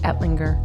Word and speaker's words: Ettlinger: it is it edling is that how you pronounce it yep that's how you say it that's how you say it etlinger all right well is is our third guest